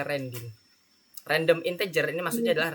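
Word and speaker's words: randint: Ren integer Ren in tulisannya gini ya redin rendin bacanya rending random integer ini maksudnya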